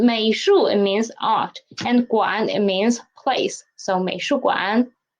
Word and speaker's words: 馆: 美术馆, 美术馆, and please pay attention to 馆. Read it as a half third tone.